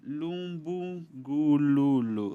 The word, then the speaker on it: Lumbungululo: E eu gostaria de saber também da doutora Lumbungululu, certo? Certo? Não pronunciei?